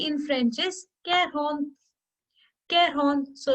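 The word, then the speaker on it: quarante: cairo the 43 will be care horns thrower care on through 45 will be care hon sank 40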